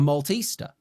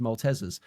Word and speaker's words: Maltesers: There's no A in Maltesers, so it should be pronounced Maltesers.